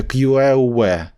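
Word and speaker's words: queue: Воно ще часто пишеться QL. Ну, тобто читається просто Q, а пишеться QL ніби.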